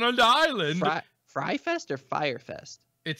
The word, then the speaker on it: Fyre: Fire. You can see fire. It here, folks. It's spelled F-Y.